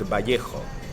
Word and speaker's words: Vallejo: It's not Vallejo, that's not how you pronounce it. It's Well, Vallejo? The right way to pronounce that, because it's a Spanish name, is Vallejo.